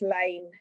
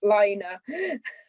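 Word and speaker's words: laine: I've got this new episode of the Liner magazine, and I was like, no, that's lane. It's French for wool, and you pronounce it lane, not liner.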